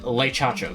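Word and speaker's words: Le Chacho: L E space C H A C H O like Nintendo confirmed Leacho because it sounds very similar to the Japanese spelling of President Shacho.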